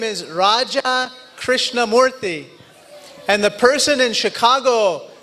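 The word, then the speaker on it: Raja Krishnamoorthi: in Illinois I said hi my name is Raja krishnamurthy and the person in Chicago looked right back at me and said Roger Christian Murphy it's very nice to meet you and then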